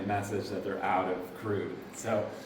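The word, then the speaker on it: Krud: for like weeks, and I like Crude, K-R-U-D. It looks like crud, but they pronounce it crude.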